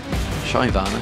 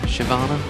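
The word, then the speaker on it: Shyvana: going to be fight Shana shyana Shiana whichever you'd like to call it pronunciation tomato tomato all that Malak it is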